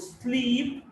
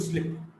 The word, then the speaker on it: sleep: So the word sleep and slip. When you want to go to sleep, we often pronounce we're going to slip.